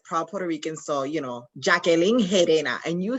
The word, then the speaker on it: Gerena: So, Jacqueline Harena, and you said it perfectly. Harena. Okay. The G sounds like an H.